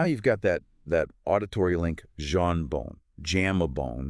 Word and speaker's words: jambon: Jambon. It's pronounced roughly jambon.